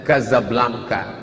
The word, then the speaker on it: Casablanca: dua ibukota kerajaan Maroko tulisannya Casablanca secara membacanya Gaza Blanca Gaza artinya rumah Blanca